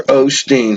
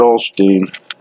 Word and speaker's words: Osteen: Osteen here and I heard that it was said somebody somebody downstairs on a TV show they said yeah Joel Olsteen they pronounced it all steam anyway walked up to